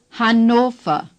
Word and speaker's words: Hannover: The A is like in Hamburg. Han. Say, Han. The O is clear and long O. The R at the end of a German word is hardly pronounced at all. The V is pronounced like F. Ofer. Say, Ofer. Say, Hannover.